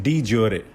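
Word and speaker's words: de jure: Next is डी ज्योरे. ज्योर भी बोल सकते हैं, प्रोनाउंसिएशन थोड़ी अलग हो सकती है बोलने में.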